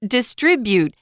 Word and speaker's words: distribute: they say dis dist distribute distribute uh the the accent is on that second syllable distribute for the noun